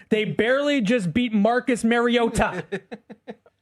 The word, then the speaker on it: Mariota: out this this What is the right pronunciation? Mariota. Um I think it's been said over the years like Mariota. Um which is incorrect and it's pronounced Mariota.